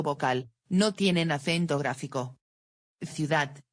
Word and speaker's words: ciudad: Ciudad, ciudad.